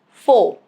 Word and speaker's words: Faux: It is silent at the end of a word derived from French.